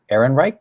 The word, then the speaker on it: Ehrenreich: So the 5 contenders are Alden Ehrenreich. Did I pronounce that right?